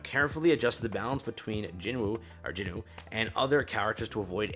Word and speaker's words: Jinwoo: just the hunters without Jinwoo, basically, correct? Or again, his name is Jinu. I'll try to pronounce it properly now.